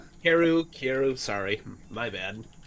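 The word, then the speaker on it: Kaeru: time Karu kairu kairu it's pronounced keru because that's what they say in all of the animes when you hear the frogs ribbit okay it's all uh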